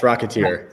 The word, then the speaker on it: Rocketeer: Am I pronouncing it perfect? Yeah, it's Rocketeer.